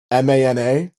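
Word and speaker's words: Maná: And there's one band called Mana, Mana, M-A-N-A.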